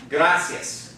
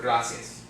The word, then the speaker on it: gracias: the word gracias okay now the accents going to fall on the second-to-last syllable because it ends in the net okay but that second the last syllable is not the eye because the eye and the egg go together to form of what a diphthong okay and so the accents on the second left so we'll the last